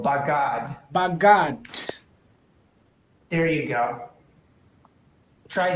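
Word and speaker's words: בגד: No, you'll have to accent normally the last syllable, bagad.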